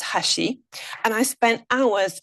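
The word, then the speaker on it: 橋: In Japanese it's pronounced hashi.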